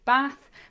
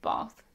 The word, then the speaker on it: bath: lot of comments about how I pronounce the word bath that is how we say it in the south of England in the north you'll say bath but down here it's definitely bath bath bath bath yeah